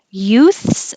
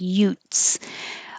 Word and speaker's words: youths: You can't take a shortcut and leave out the th and make it sound like Utes.